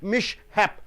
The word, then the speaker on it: mishap: Being a noun, you have to stress the first syllable.